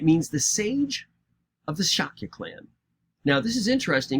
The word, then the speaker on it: Shakya: a little dot but when you see that dot over the s it usually means you're supposed to pronounce it as an sh so even though it looks like sakya it's really shaky so